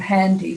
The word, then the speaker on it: Handii: So one of our great founding companies is a company called Handy, which is spelled Handii, and they're just going gangbusters.